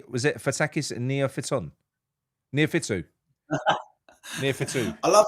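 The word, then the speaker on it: Neophytou: Did I actually pronounce it? Did I say, was it Fatakis and Neophyton? Neophytu.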